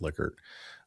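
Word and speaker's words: Likert: It's pronounced liquor.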